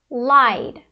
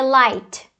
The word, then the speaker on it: lied: Então nesse caso, a gente tem o verbo lie, e ele vai ficar lied, lied. Não vai ser light, né, com o T, vai ser lied, com o D, tá?